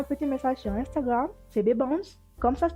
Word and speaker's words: Bbans: Et si tu veux papoter, envoie-moi un petit message sur Instagram, c'est Bbans, comme ça se prononce, B-B-A-N-S, et c'est suivi de cœur violet.